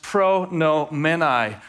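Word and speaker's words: προνοούμενοι: So Paul's going to begin this statement with a good old participle, which is pronounced pronomenai.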